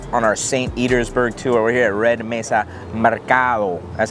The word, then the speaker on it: Mercado: We're here at Red Mesa Mercado.